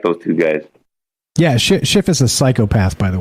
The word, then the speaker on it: Schiff: It's SCHIFF, like Schiff. Oh, that's Schiff. That's Shifty Schiff. Yeah, he was actually asking some pretty damn hard questions and shit, too. I like those two guys. Yeah, Schiff is a psychopath, by the way, but fine.